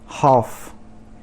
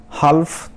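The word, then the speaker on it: half: उसके बाद हाफ, हाल्फ तो नहीं बोलते, हाफ मतलब आधा।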